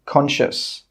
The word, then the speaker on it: conscious: The letter C is normally not pronounced if it's with the letter S. For example, conscious.